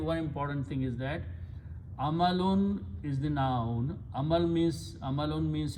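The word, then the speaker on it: أعمالٌ: So full word is amalun. A'malun, if I wrote, you can write down separately or together as it is written there, short alif, but the word is pronounced a'malun. A'malun means deeds or actions.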